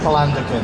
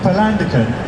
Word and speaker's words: Palandöken: And I think you went on to Palandöken. How's it pronounced? Palandöken. Palandöken. Yeah. You went on to Palandöken.